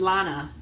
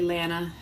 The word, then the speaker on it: Lana: Like, my name is Lana. Please don't ever say Lana.